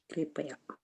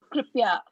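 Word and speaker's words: कृपया: Pya will be there. You will call it Pya if there is no A in between, right?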